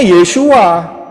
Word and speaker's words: Yeshua: yesua betulu ya benar karena orang Israel ngomongnya yesua lah kita kita huruf